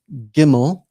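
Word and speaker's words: גימל: And then the next one is gimmel. And this is pronounced like the English letter G as in God.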